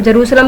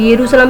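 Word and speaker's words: Jerusalem: इसको हम जेरूशलम भी बोलते हैं, इसको हम यरूशलेम भी बोलते हैं, इसको हम जेरूशलेम भी बोलते हैं। आपका जो जी करे वो आप प्रोनाउंस कीजिए।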